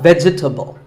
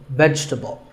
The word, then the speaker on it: vegetable: a lot is vegetable it's not vegetable if you say it correctly there are only three syllables veg vegetable let's talk about a